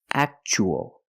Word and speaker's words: actual: and the second word we see Tua as a second syllable so the t is pronounced CH actual actual means real and